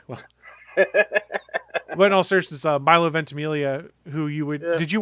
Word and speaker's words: Milo Ventimiglia: sodom oh yeah but in all searches uh milo ventimiglia who you would did you watch uh heroes